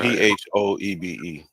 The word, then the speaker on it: Phoebe: phob phob okay phob p h o e b e we seen that name somewhere that's Phoebe not fob y'all better learn how